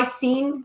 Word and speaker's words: micellar: Now that is from a combination of whey protein isolate and micellar casein.